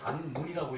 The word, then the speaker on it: 단문: 5세는 그 단문, 요것은 이제 단면이라고 써놓고 단문이라고 읽어요.